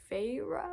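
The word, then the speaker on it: Feyre: about this girl named it's f-e-y-r-e I think they like said the pronunciation was like feyra or something she lives with her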